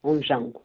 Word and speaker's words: Ondjango: que te perguntar um pouco mais sobre o on Jango é assim que se pronuncia exatamente on Jango o professor Filomeno Lopes trabalha em Guine Bissau